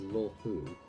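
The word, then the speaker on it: Luofu: six commissions of the law Fu as the biggest port on the ship starskiff Haven is governed by the sky fairing commission too okay so that's pronounced law who got there Sisters still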